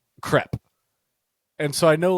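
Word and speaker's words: crêpe: Crepe. And so I know, like, in the States we say crepe, but here people know it's crepe.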